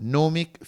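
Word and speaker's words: gnomic: Remember you don't pronounce the G but nomic future from ginome maxim.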